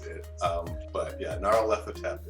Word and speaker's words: Nyarlathotep: But yeah, Nyarlathotep is how I say it in my head.